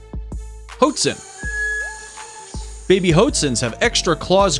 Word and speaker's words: Hoatzin: By the way, this bird is called Hoatzin, whatever you want to call it, not Hoatzin, like you pronounced it.